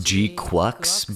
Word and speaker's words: GQuuuuuux: So, I know the name of the show is pronounced Gqu, but in English it kind of looks like Gcux, and I like that one more, so I'mma call it that from now on.